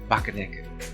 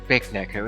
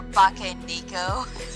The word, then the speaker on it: Bakaneko: I am quite particular about Bakaneko. Most people pronounce it Big Neko, and it does annoy me a little, but Or Bake Nico. I think I'd prefer that over Big Neko.